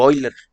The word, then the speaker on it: Euler: Entonces esa se llama la derivada de la función de Euler u Euler, si quieres pronunciarlo en alemán.